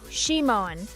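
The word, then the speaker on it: Szymon: It's pronounced shimon with the stress on the first syllable.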